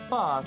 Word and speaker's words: Bath: 바스. 어, 도시 이름이요? 그렇습니다. 영국 발음으로 바스라고.